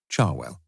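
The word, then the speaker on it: Cherwell: main Banbury Road and the river Charwell, pronounced by most of the locals, Charwell.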